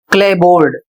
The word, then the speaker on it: clapboard: अगला शब्द है CLAPBOARD क्लेबोर्ड और इसकी हिंदी होती है लकड़ी की तख्ती।